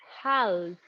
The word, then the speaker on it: half: normally say have passed be careful here we don't pronounce the l it's not half just half half past